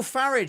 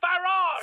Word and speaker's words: Farage: Didn't Nigel Farage set up a new party? Two new parties if we're counting. Farage. Farage. Pronounce it the British way, please.